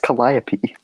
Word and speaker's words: Calliope: also in Calliope also had uh notes it's pronounced Calliope shall I be sorry I just acknowledge that